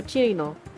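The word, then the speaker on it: Chiruno: Chirino or Sino? Is it Sino or Chirino? I think it's Chirino because in Chirino's math class, she pronounces herself as Chirino.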